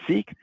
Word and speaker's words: SEAC: that's the seac acronym we pronounce it seek that stands for sustainability